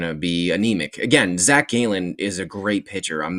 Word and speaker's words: Gallen: Zack Galen is a great pitcher. I'm not going to take anything away. Interesting way of pronouncing Gallon. That's a Zack Gallen. I've I've heard both, but Gallon, sure.